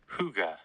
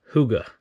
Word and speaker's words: hygge: Here's the definition, but listen to the pronunciation here. Hygge. Hygge. H-Y-G-G-E.